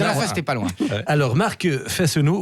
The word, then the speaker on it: Fesneau: pas loin alors marque faith no more oui je prononce toutes les lettres comme je sais me